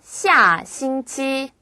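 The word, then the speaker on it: 下星期: 해서 아래 하자를 써요 발음은 샤 싱치 또는 샤 치라고 말씀하시면 돼요 이거는요 워를 얘기할 때도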